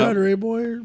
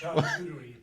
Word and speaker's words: charcuterie: Charter board or Is it?